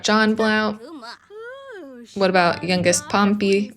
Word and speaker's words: Pompey: What about youngest Pompey? Rhymes with stompy.